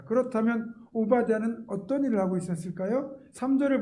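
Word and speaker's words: עבדיהו: 본문에 등장하는 오마디 신화입니다 오바는 정확하게 발 발음하면 오베드 야후 그러니까 오베드 종이란 뜻이고요 야호는 여호와 그니까 여호와의 종이란 뜻이에요 오바는 자신의 이름처럼 여호와를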